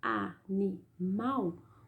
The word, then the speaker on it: animal: Na palavra animal, o mal é a sílaba pronunciada com mais força. Ela é a sílaba tônica, ela está em último lugar, tá?